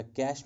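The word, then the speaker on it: cache: Registers के बाद हमारे पास रहता है कैशे मेमोरी या कैश मेमोरी, जिसको मैंने आपको कहा था, इसको एक्चुअल प्रोनाउंसिएशन इसकी कैश मेमोरी है, या आप कैशे मेमोरी कह सकते हैं, ये नाउन है, आप कुछ भी कह सकते हैं।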